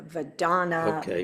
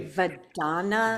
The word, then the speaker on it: Vedana: My mind's still going, okay, I get the body and the Vedana, but there were 2 more.